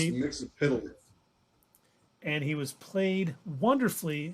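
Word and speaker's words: Mxyzptlk: It's pronounced Mixapitalik.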